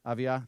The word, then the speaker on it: Avdija: And then it's Giannis, Denny Avdija. I don't know how to say it. Avia, thank you.